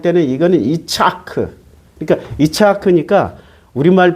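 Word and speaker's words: יצחק: 그런데 창세기 17장 19절에 그 이름을 이삭이라고 할 때는 이거는 이차크. 그러니까 이차크니까 우리말 발음으로이야 우리나라 성경은 헬라어 히브리어를 지격해서 번역한게 아니고요.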